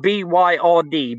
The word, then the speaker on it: Byrd: I've looked at little bits and pieces, but it's spelled B-Y-R-D, Byrd, Admiral Byrd. Check him out, Admiral. He's an admiral, for God's sake. This guy's not a nutcase. Admiral B-Y-R-D. Admiral Byrd.